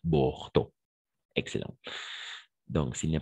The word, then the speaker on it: Bordeaux: Bordeaux. Bordeaux. Exact. Bordeaux. N'oublie pas la combinaison des voyelles E, A, U, O. Toujours O, c'est-à-dire Bordeaux.